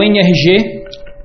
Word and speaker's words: NRG: É o NRG, a as letras N RG, se a gente pronunciar em inglês, fica NR G, que é exatamente a pronúncia da palavra em inglês energia.